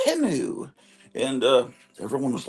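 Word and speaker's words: Temu: a commercial and they said it's not really pronounced teu it's pronounced timu and uh everyone was like the next morning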